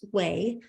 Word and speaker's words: WAI: So the W3C's Web Accessibility Initiative, or WAI, which we pronounce WAI, is responsible for several resources that help us make the internet more accessible, such as WAI ARIA and WCAG.